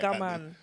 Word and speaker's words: OGAMAN: Yeah, bare people don't get the pronunciation right. OGAMAN.